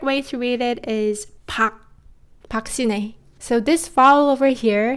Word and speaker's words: 박: She's also a very well-known Korean actress and her name is read, 박 is often romanized as "Park" but the correct way to read it is Bak.